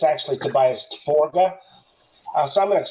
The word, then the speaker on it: Forge: on it um Tobias they call him Tobias Forge but it's actually tobiased forga uh so I'm going to say it the